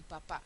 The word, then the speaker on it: papá: ser una palabra diferente por ejemplo papa y papá sí papa sé que tiene que ser una palabra llana porque termina en vocal y no tiene tiene tilde con lo cual sé que tiene que ser papa papá lleva tilde Entonces está ahí Qué es papa pop y papá pues es mi mi papi no calle y cal